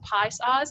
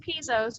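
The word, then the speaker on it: Piso's: One of those was called pie saws. I know it looks like Pizos, but it's pie saws because they even had a pronunciation on their flyer.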